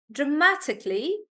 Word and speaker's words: dramatically: on SE reception dramatically stress is on Ma dramatically reception espresso pre and